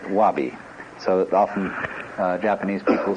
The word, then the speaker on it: wabi: that goes along with something that rhymes with it wobby so it often Japanese